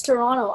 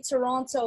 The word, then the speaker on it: Toronto: that like it's etobicoke just like you don't see toronto like toronto you say it like toronto toronto toronto toronto toronto that's like your og you're from here if you don't say the t at the end yeah i'm gonna go